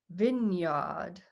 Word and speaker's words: vineyard: english we pronounce it's spelt vineyard but we pronounce it vineyard oh yeah that's why i always was thinking